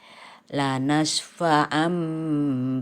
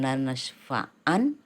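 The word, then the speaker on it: لَنَسْفَعًا: Iklab artinya ditukar, jadi ini tanwin ditukar menjadi mim, jadi bukan lanasfa'an tapi lanasfa'am bin nasyiyah.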